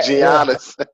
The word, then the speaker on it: Giannis: I was gonna say a lot of people pronounce his first name wrong. Yeah. Giannis.